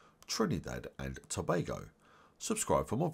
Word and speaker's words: Trinidad and Tobago: people in 2022 and you pronounce Trinidad and Tobago like this go Trin knee dead and Bay go Trinidad and Tobago subscribe for